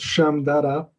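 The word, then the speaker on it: Shmdata: So the library is pronounced Shamdada.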